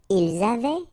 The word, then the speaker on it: ils avaient: Ils avaient, so look here, E-N-T, you write them, you don't pronounce them.